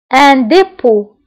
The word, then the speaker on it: dépôt: وديعة un dépôt. un dépôt. un dépôt. هنا أيضا dépôt كنكتبوها بالتي في آخر الكلمة ولكن لا تنطق.